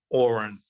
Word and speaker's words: Oron: And his name I have in the book, Oron, like pronounced like Oren.